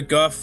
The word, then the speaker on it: Gouf: It's spelled Gouf. You can pronounce it either way. I like calling it the Goof because it's funny. But Guff, I think Guff is more accurate, but Goof is funny.